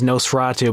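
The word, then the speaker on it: NOS4A2: vanity plate so yeah you pronounced it as Nosferatu but it's spelled NOS number for a number - alright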